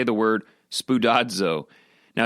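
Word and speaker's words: σπουδάζω: a look at it on your own, it's pronounced spudadzo, which is actually really fun to say. I recommend right now, wherever you are, you say the word spudado.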